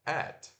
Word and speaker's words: at: som de ter então o arroba em inglês se pronuncia at Beleza então Susan Jones